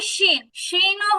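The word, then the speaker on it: ش: দেন হচ্ছে শিন। শিনও হচ্ছে জিহ্বার মাঝখানের সাথে সম্পর্ক, কিন্তু এটার উচ্চারণটা পুরোটাই বাতাসের উপরে, বাতাস। শিন শিন।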